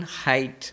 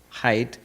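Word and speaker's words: Haidt: Professor Jonathan height I don't know how you pronounce it. H ai dt height.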